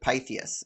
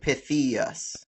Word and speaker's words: Pythias: But anyway, if you look at Pythias, the Y says eh and the I says ee, like Pythius, right?